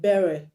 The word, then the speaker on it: beret: The beret that you wear on your head is not beret or beret, is beret because the T is silent.